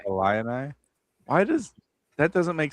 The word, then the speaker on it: Illini: Illini, whatever.